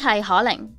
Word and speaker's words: Kling: app Kuaishou launched - Kling pronounced as "Ke Ling" At first, it requireds